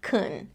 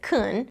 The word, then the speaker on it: can: Well, we already saw that can really isn't pronounced like can, it's pronounced as kun, but can't also isn't usually pronounced as can't in fast speech.